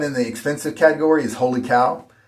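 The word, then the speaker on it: Wholly Kaw: The last one in the expensive category is Holy Cow. It's spelled weird.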